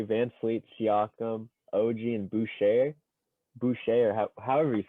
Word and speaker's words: Boucher: Anyways, if you're going crunch time with Kyle Lowry, Van Fleet, Siakam, OG, and Boucher, or however you say his name, he just came without onto the R.